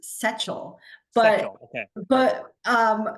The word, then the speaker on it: Sechel: no it's it's perfectly fine it's it is pronounced seal but okay but um it's off but most people think it's it's saal so you got it you got it you